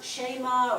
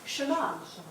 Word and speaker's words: shema: so do you see how shema should not be actually pronounced shayma or shema it's shimane which we do with their